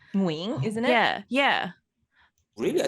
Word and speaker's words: Nguyen: Yeah, so if you say it right, but in the US, right, they say Win. Like Win. I thought it was Win. No, it's Nguyen. We say Nguyen.